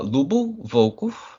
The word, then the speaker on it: Lyubomir Valkov: It's uh Lyubov Volkov. That's how that's how it is uh pronounced.